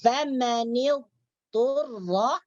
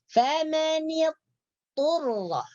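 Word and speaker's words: فمن اضطر: Jadi ketika kita mau baca famanil turra, jangan langsung dibaca famanil turra. Itu salah. Jadi kalau kita membaca famanil turra itu salah. Jadi macam mana yang benar bacanya? Famanil turra. Jadi sifat dhad yaitu itbaq di situ ada.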